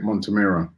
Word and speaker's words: Montemurro: Can never pronounce his name. The women's manager for Arsenal, Joe Montemurro. That's it, Montemurro.